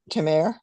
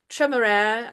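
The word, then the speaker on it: Temeraire: So in my head, I have a sort of francophone pronunciation of it, which I doubt very much was the intent. Why not? So yeah, Tremere, I think is like how it close to how they said it in the audiobook.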